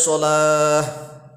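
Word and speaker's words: الصلاة: Kemudian salah berikutnya biasanya di hayya 'alas shalah ini. Kalau tatkala dibaca waqaf hendaklah berhenti, tak marbutonya berubah jadi ha. Hayya 'alas shalah, berhenti nafas.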